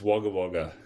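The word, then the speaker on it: Wagga Wagga: I believe it's waga waga. I believe it's wagger. Why does it say what is it spelled with an a waga waga?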